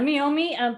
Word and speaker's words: Meiomi: So we went with Lisa's recommendation today, the Meiomi. Did I say that right? What? That's right. You said it right. Yeah, Meiomi Pinot Noir.